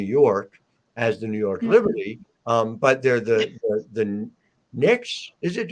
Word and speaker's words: Knicks: Liberty, but they're the Knicks. Is it? Is a K is silent, right?